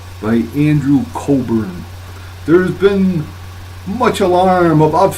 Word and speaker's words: Cockburn: Scare by Andrew Coburn it's spelled COC kb you are an but i think it's pronounced Coburn by andrew cobran there's been much alarm